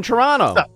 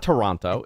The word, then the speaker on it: Toronto: Joel Pearl, up in Toronto. See, I said it right. I said it correctly. It's not Toronto. It's Toronto. Toronto. Or if you really want to get into it, Toronto.